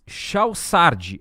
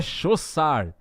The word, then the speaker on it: Chaussard: Mas como eu não entendo nada de francês, por isso que eu citei errado antes aqui a pronúncia do sobrenome dele. Então é Chaussard, né, a pronúncia correta.